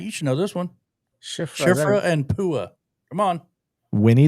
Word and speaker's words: Shifra: Shifra. Yes. There we go. Shifra. Yep. What is that? Shifra is from the Bible. Matt, you should know this one. Shifra and Pua.